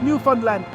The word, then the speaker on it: Newfoundland: to time, weather, and how to pronounce Newfoundland. Hint, it rhymes with understand.